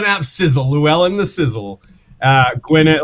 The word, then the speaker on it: Gwynedd: Gwyneth, like the double D sound is pronounced TH in Welsh, so it's that's why I said Griffith.